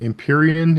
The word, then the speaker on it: Empyrean: Though the most read books this year were Rebecca Yarrow's Empyrean, is that how you pronounce that?